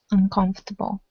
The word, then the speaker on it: uncomfortable: that's uncomfortable uncomfortable uncomfortable uncomfortable good there you go uncomfortable um yeah that's a tricky word it doesn't sound anything at least in American English doesn't sound like it looks uh okay and let's